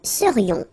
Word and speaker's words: serions: And then this is this yon, yon. Remember, it goes in your nose. It's nasal. Yon. Nous serions.